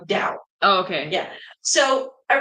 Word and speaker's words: Tao: T A T A Oism toism is pronounced with a D though. It's like dao.